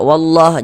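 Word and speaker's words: والله: Nah, di sini kita baca wallah. Jangan dibaca walla hua. Jangan. Tapi dibaca wallah.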